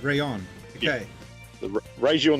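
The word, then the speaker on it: Raion: Yeah, so it was the Raiju and the Rayon. Raiju, Rayon. Okay. Yeah. The Raiju and the Rayon. So the Raiju is your standard Pro type controller, and the Rayon is a fight pack.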